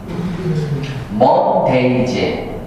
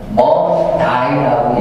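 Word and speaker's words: Monday: 그래서 미국에서는 먼데이 해도 호주에서는 먼다이 이러는 겁니다.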